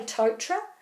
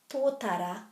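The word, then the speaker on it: tōtara: vowels right is to put a little break after every vowel if you do that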